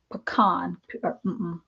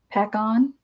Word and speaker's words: Pacon: But the company that I really like for sulfite paper is True-Ray or Pecan. That's not how you say it. Pacon, Pacon, or True-Ray, Tru-Ray.